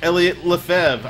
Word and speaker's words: Eliot Lefebvre: It is Eliot Lefebvre.